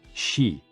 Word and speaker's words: xi: with the spleen and XI pronounced like she which connects the whole